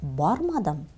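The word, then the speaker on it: бармадым: Поэтому, мы произносим так: Мин кибеткә бүген ба'рмадым.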